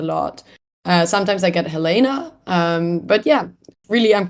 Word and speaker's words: Helena: a dress as me technically the correct pronunciation that I grew up with is Helena but I think Helena is a more American way of saying it and I've heard that